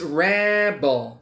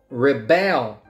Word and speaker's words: rebel: was a teenager Rabel so the noun is Rebel the verb Rebel most teenagers rebel against their parents remember if it's a noun the first syllable is stressed if it's a verb